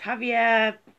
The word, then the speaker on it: Javier: I apologise for pronouncing your name wrong. It's Javier.